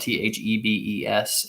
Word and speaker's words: Thebes: It's spelled Thebes. It's kind of like that mist that you walk into people's offices, and it's supposed to heal you from all diseases and stuff.